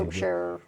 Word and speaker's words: Wiltshire: See, I know how to say Wiltshire.